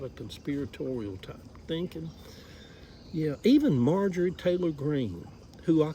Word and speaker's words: Marjorie: Yeah, even Marjorie Taylor Greene, who I called Margaret Taylor Greene yesterday, a lot of people were like, "She said it's not Margaret, it's Marjorie."